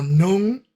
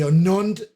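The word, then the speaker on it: νῦν: Se pronuncia algo así como nun y nunt, y significa ahora.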